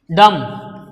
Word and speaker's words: dumb: Then about B, B sound, dumb. Here B is B sound is absent, silent here.